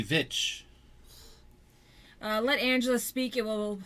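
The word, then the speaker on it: Veitch: I didn't say bitch. How do you spell it? V-E-I-T-C-H. Bitch. It's a V. V is in Victor. Oh, V. Vitch.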